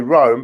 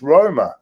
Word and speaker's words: Roma: We say Rome, but it's Roma. It's not Rome.